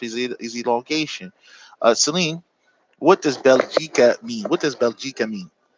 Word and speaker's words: بلجيكا: Bel is what? It's the bell with the fat and the sukoon on the lamb. So bel, G cat, gene on the kesser on the gene.